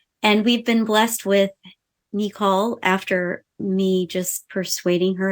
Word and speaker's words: Nicole: as Nicole, but in our family, she is Nicole. That's the way you say her name. So we'll get the pronunciation out.